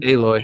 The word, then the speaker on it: Aloy: How do you say her name? Aloy. Aloy.